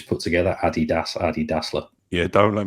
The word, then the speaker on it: Adidas: M Palmer Hammer mustard Adidas or Adidas what what what are you are you an Adidas man no I pronounce it properly so it's Adidas good man we're on